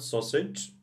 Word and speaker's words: sausage: Here we have D, you say, when you say it, the same we have D here. We don't have, of course, D when we write, but when you pronounce, you say, so, sid, sij, sij, okay? Very important, sausage, sausage.